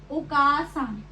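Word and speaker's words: お母さん: सो इसमें जो आ है वो एक्सटेंड हो रहा है, उसकी लॉन्ग साउंड है, तो हम इसको प्रोनाउंस भी ऐसे करेंगे। इसको ऐसे प्रोनाउंस करना ओकासान बहुत इंपॉर्टेंट है, क्योंकि अगर आप इसको नॉर्मली ओकासान की तरह प्रोनाउंस करेंगे तो इसका जो मीनिंग है वो बिल्कुल चेंज हो जाएगा।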